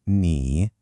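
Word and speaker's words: 你: First up, we have ni pronounced ni. Again, feel that third tone, that little dip.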